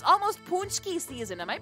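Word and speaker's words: pączki: almost like oh my God how do you pronounce it punchki it's almost punchki season am I pronouncing that really badly how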